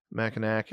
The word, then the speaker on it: Mackinac: You don't actually pronounce the W as aw. Mackinac, and then Sault Ste.